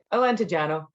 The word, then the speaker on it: Alentejano: Alentejano.